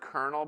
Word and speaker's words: colonel: ever seen the word kernel before? Spelled out? Colonel. C O L. and doesn't doesn't Yeah, colonal. It doesn't look like how you pronounce it at all.